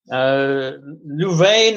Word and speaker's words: Louvain: Louvain is the French pronunciation, but it's actually in Flanders, and it's Leuven.